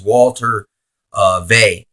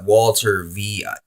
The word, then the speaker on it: Walter Veith: His name is Walter Veih. And it's like Walter Veith. Kept getting his name wrong.